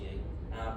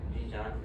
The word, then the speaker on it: Xinjiang: Is any part of that population part of it's pronounced Zhejiang province, with where the Uyghur Muslims are? Xinjiang.